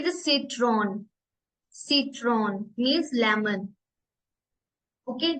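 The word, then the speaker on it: Zitrone: And last Z, seat, seat, इसमें एस की sound आती है। ठीक है, जैसे सिट्रॉन, सिट्रॉन मीन्स लेमन।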